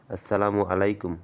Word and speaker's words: আসসালামু আলাইকুম: থাকার জন্য দোয়া করা সালাম উচ্চারণ করতে হয় এভাবে আসসালামু আলাইকুম অর্থ আপনার প্রতি শান্তি